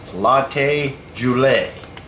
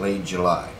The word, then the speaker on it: Late July: chips or tortilla chips from latte jle most people pronounce that Late July yes turn the joke